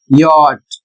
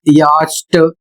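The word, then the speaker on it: yacht: उदाहरण के माध्यम से देखिए वाई ए सी एच टी और इसका उच्चारण होता है यट और इसकी हिंदी होती है नौका। यदि इसे आप पढ़ते हैं याष्ट या कुछ और अतिरिक्त पढ़ते हैं तो गलत पढ़ रहे हैं।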